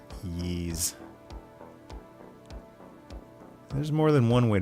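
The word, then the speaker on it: Ys: Yeah, he did. So I pronounced it wise and then I had to go back and re-record that audio because I found out oh it's pronounced Ye.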